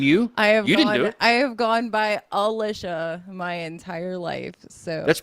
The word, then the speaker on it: Elicia: million I never did it's pronounced Alisha or it's not Elisha or E you have to really pronounce it well my mom says it's